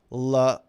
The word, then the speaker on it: Loudoun: So Bugatti Veyron says it's pronounced Loudoun.